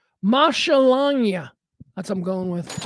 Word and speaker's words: maschalagnia: See, it's Lagnia. So you got to pronounce Lagnia. Langnia. Langnia, right? So the first part is Masha. Maschalangia.